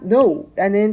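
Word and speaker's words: know: 사용을 합니다 그리고 동사 no라는 단어가 나왔는데 k는 묵음으로 no라는 n부터 발음을 하셔야 합니다 그 다음으로 always라는 항상이라는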